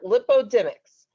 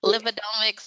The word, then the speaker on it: lipidomics: analysis and lipoic whoa fancy word lipodomics a subset of metabol metabolic I think you're gonna have to correct me on my pronunciation there Dr Franklin lipidomics and met uh metabolomics